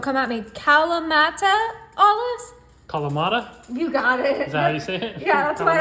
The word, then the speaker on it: Kalamata: Kalamata?